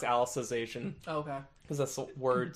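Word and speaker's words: Alicization: named Alice Oh cuz I think it's literally pronounced Alice's ation okay cuz that's the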